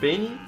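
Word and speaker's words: B4nny: y that's how his name is spelled it's pronounced benny but it's b for n-n-y look for him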